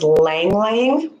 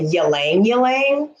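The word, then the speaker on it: Ylang-ylang: of the class today the oil today is langlain you hear this pronounced many different ways i say langlain you hear people say yelang yelang i've heard others but i say langling grab your notebook if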